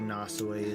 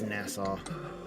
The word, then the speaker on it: Nassau: to probably go to nasay as well will or nasau I always pronounce it weird it's Nassau go to Nassau and